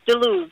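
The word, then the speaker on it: DeLuz: Am I pronouncing DeLuce correctly, Dr. Ronnie? Yes, DeLuce.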